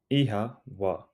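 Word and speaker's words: Oíche mhaith: Ihawa. Ihawa. Ihawa. It sounds like ihawa. The O has a long sound and the MH is pronounced like a soft W.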